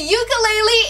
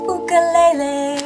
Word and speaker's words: ukulele: And the winner of the ukulele is Topaz!